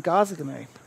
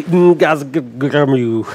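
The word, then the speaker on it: Ngazargamu: It's not how you pronounce it. I always say Ngazagamu because I have no idea. That was correct.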